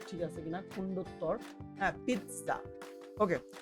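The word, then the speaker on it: pizza: আমার বাংলা এটা ঠিক আছে কিনা খন্ডতর হ্যাঁ পিচ্চা ওকে সো এইটাকে আমি কি করবো এই যে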